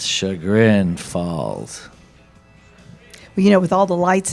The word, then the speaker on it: Chagrin Falls: It's Chagrin Falls.